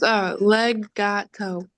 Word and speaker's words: Legato: I think I'm pronouncing it wrong. It's Legato.